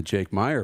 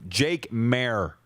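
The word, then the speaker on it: Jake Maier: We might be singing the Jake Meyer praise on Monday.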